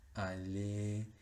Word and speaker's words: aller: La mayoría de las palabras finalizadas en ER, la pronunciación de esa ER final va a ser solo E. Chanter, aller, eh, y muchísimas más, muchísimas.